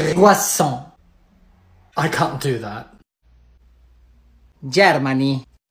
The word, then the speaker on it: croissant: Concentrate, please, and listen. It's croissant. I can't do that. Germany. Oh no, please, Germany, no. Protéjanse, parces. No. Estaba cerrado. Croissant.